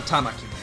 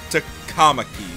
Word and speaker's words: Takamaki: Alright, then I'm gonna be red for An Tamaki. Takamaki.